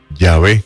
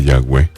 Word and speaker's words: Yahvé: V, no se dice Yahweh, se escribe YHWH, porque esa W es una letra en hebreo que se llama Vau, y se escribe W pero se pronuncia V.